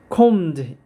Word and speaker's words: combed: combed. b는 무거운 발음 안 됩니다.